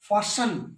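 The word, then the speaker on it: fasten: Silent T क्या है, देखो विसल, विस्टल नहीं, विसल, फास्टन, फास्टन नहीं।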